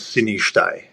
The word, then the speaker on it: Sinishtaj: then my last name is Sinishtaj.